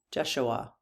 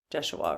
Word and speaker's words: Jeshua: I did yes, I did a pronunciation on that because I think some people pronounce it Jeshua, right? But when I did the pronunciation on Google, it was Jeshua. So I guess it depends. So, Jesus, do you know